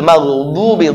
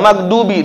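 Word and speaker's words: المغضوب: Lalu ghairil maghdubi dhu. Kalau kita asal bunyi kayak huruf dal, maghdubi du itu kayak dal biasa. Ini dhad dhu maghdubi susah, ini huruf susah ya.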